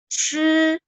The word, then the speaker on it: 吃: Nah, kalau CH, Chi, Chi, teman-teman tahu 吃饭, makan, 吃饭. Nah, itu harus pakai CH.